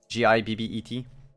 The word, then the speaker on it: gibbet: shows you a uh jibbet how you pronounce it give it a bit gi bb et gibbet yeah or jib what